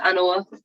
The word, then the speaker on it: Anawa: story hi everyone um my name is anawa so you pronounced it you've pronounced it correctly anymore um and i am 23.